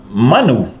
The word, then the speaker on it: manu: Manu. First, let me clarify a somewhat subtle aspect of the pronunciation. The word manu with a short a means a bird, manulele.